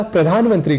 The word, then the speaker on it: प्रधानमंत्री: जाती है हमसे चूक इसी तरह प्रधानमंत्री को हम असावधानी में प्रधानमंत्री यानी धा की जगह दा यह बोल जाया करते हैं ऐसे ही हमें